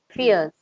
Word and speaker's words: fierce: want to get just fears think of it think of it spelled as as f a r CE fierce fierce yes ah okay fierce see